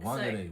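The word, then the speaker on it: Whangārei: It's When you look at a w h, nobody thinks, "Oh, that's going to come out as an f."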